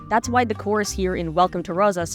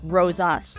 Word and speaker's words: Rosas: Since the emphasis is on rose, it doesn't match up with a plain us. You'd have to find a word or phrase that rhymes both syllables of rosas, like owes us, if